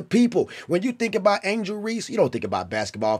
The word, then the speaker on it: Angel Reese: at angel angel Rees I I was even saying her name wrong how many of you mother out there that said Angela Reese instead of Angel Reese a lot a whole